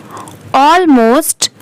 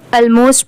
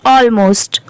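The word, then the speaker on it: almost: Then 10 become ऑलमोस्ट। इसे बहुत सारे लोग ऑलमोस्ट प्रोनाउंस करते हैं बट वह रॉन्ग है। इसकी करेक्ट प्रोनंसिएशन है ऑलमोस्ट।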